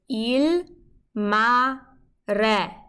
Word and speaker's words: il mare: And when we fill in the rest of the letters, it's il, mare. Il mare. If you can't roll your R's, just say r, and you can practice rolling your R's later on.